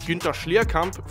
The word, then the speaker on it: Günther Schlierkamp: Now, I believe his name is actually pronounced Günther Schlierkamp for my German subscribers, but for the sake of simplicity, I'll just call him Gunther.